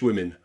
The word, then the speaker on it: women: Okay, women is also pronounced with that I again.